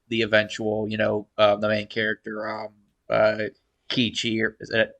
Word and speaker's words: Keiichi: I liked every time the girls went psychotic, and I liked the eventual, the main character, Kichi, or is that how you say his name? KG. Keiichi.